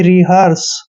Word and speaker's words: rehearse: Next है REHEARSE। देखिए आर का उच्चारण हम रे कर रहे हैं, ई को ई की मात्रा पढ़ रहे हैं, और एच का उच्चारण है करते हैं, और EAR का उच्चारण आर करते हैं, ऐसे। और एस ई को हमने से पढ़ना है, यानी कि रिहर्स।